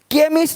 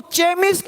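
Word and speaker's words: chemist: केमिस्ट, अब इसको चेमिस्ट नहीं पढ़ेंगे, चेमिस्ट। चोपड़ा को कोपड़ा नहीं पढ़ेंगे, इसको चेमिस्ट नहीं पढ़ेंगे, केमिस्ट।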